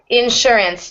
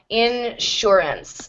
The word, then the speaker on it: insurance: sugar or sure that where the S gets an sh sound or a sh sound um and this is